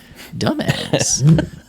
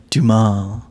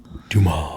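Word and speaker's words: Dumas: Alexander The Count of Monte krisco by Alexander dumbass that's what it is he's like it's pronounced dumal dumal he's like you'd like it it's about a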